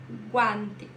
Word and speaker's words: guantes: tem gato guantes aqui não só a pronúncia do G mas também é do a guantes e não gu gua guantes gafas gente gesta gênero